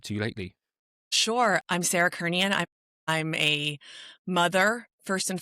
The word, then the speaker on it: Kernion: I'm absolutely delighted today to be joined by Sarah Kernion. I pronounced that right? That is, yes, correct. Yeah. Yes. Happy days. French roots. You can do the Kernion if you'd really like to, but Kernion works.